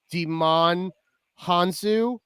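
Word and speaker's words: Djimon Hounsou: always butcher his name i want to say it's deman hansu because i think the jay is silent in his name but he came back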